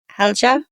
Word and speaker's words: Halja: How do you pronounce her name? Helga.